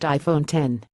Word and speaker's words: iPhone X: 8 nor the A+ it's the iPhone X pronounced iPhone 10 don't be surprised if